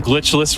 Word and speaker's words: glitchless: So really excited for some glitchless runs. Yeah, glitchless. Just keep that second syllable in there in mind too.